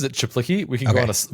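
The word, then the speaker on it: Czaplicki: do you say his last name so he pronounces it chiplicky we can go on a micro tangent about this uh like when I first met him.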